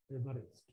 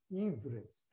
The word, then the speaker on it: Everest: I am pronouncing it correctly. His name is not Everest, Everest.